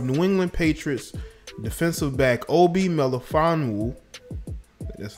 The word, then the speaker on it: Obi Melifonwu: It says the partner of New England Patriots defensive back Obi Melifonwu, that's how you pronounce it, quit her job after co-workers called her unclean in private messages for dating a black man.